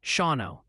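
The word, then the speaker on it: Shawano: Multiple sources are confirming Shauno, Wisconsin, is pronounced Shauno.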